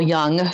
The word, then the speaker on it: Jung: And I was planning to be a Jungian, or Carl Jung, sometimes pronounced Jung, psychoanalyst.